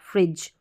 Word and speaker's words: fridge: Pronounce कर रहे हैं, हम फ्राई नहीं बोल रहे हैं, हम फ्री बोल रहे हैं, तो फ्री और ज, तो इस तरीके से ये रहेगा फ्रिज।